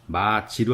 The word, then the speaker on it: 맛이: 맛이라고 쓰여져 있는데 발음은 마지로 하는 겁니다.